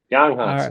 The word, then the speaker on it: Yang Hansen: Yang Hansen.